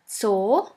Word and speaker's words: Zoo: And the last letter is Z, Z, which is pronounced like the S in the word bits. Here we have the example of the word Zoo, Zoo, which means zoo.